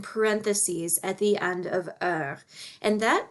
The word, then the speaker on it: heure: one that's frequently mispronounced it's pronounced uh kind of like the word her only without the h sound some people pronounce it you are or horror or they they pronounce